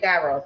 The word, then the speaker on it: gyros: Yes, I said gyros. That's the way that I say it. You say it how you want to say it.